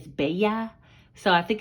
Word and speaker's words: bella: You guys, Janae gave me a little tutoring lesson on how to say pretty is bella.